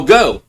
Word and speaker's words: Geaux: Got a guy open. Caught the 45 to the 40. 35. Down to the 28-yard line. First down, Texas Tech. Yeah, I know. Yeah, I know. It's spelled go. G-E-A-U-X.